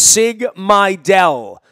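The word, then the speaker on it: Sig Mejdal: to pronounce Sigma del that's pronounced sig my del he's the new genius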